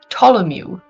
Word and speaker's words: Ptolemy: boy whose name is Ptolemy. Ptolemy. T Ptolemy. I know a Sorry. Bartholomew. So it's like pterodactyl. It's spelled like Yeah. pterodactyl for some reason as well.